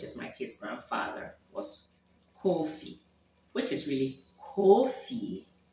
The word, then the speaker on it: Kofi: I think I've misspelled it in the Ashanti way. I think it's Kuofie or Ffi. I can't remember. Because we don't use it. But the pronunciation is Kofi.